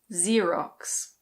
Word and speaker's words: Xerox: In British English this is Xerox. Xerox. Yes, the X is just a "z". Xerox.